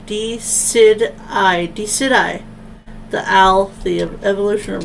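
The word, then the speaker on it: Decidueye: I think I'm gonna pronounce D-Sweet-I? Oh, that was totally wrong. D-Sid-I.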